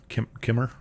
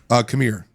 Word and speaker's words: Qimir: It's Qimir. Kimmer. Kamir. Kimir. Kamir, I think is how they pronounce it.